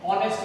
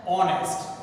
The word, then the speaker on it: honest: Blank honest man. Here H is a silent letter. As per the rule, see, beginning with A silent, then honest. We cannot say honest, it's an honest, right?